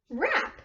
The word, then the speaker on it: wrap: a present yeah okay so we hear just the r-right just the our rap we don't hear the W good alright let's do